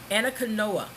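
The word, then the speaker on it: Anacaona: with an all female orchestra, the Anna canoa Ana Canoa. I'm going to spell that for you as well so you can go look for it.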